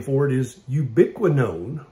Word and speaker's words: ubiquinone: name for it is ubiquinone which kind of rhymes with ubiquitous and the reason they